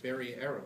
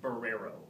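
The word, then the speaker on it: Barreiro: Is his name pronounced Barrero or Barriero? It's a great question, and his attorney informed me that it's pronounced Barrero. And ignore that little I in there. It's in there, but it's silent I.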